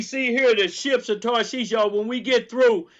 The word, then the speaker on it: Tarshish: Strong's H8659 Tarshish or Tarshish. That's how it's pronounced.